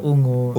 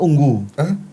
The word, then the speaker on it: Ungu: Ungu kah unggu? Bacanya ungu kah unggu? Kalau menurut band yang ada di Indonesia ungu, Pak. Bukan band. Tulisan kan dia UNGU. Ungu.